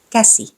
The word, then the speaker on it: käsi: The front vowel A is pronounced like the A in cat, but more fronted. The tongue is positioned near the front of the mouth. So it's A. Ämpäri. Käsi. Päivä.